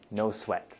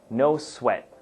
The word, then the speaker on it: no sweat: No sweat. So, pronunciation, everyone. So please repeat after me. No sweat. Okay? Now, if you say it quickly, you'll notice that we don't pronounce the T at the end.